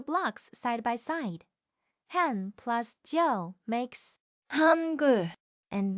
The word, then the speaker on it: 한: 한, Initial H, vowel A, final N. Han.